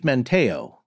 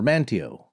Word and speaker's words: Manteo: sokoton villages guided by chief menteo or manteo how do you say it mantio i'm pretty sure north carolinians say mantio you know i don't